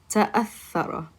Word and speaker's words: تأثر: تأثر. Which one is it, the right or the left? Very good. So that letter that is after the ta is what letter? Oops. That letter is a hamza.